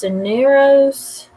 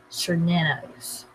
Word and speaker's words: Cernunnos: Cernunnos. Well, Cernunnos. So I was close.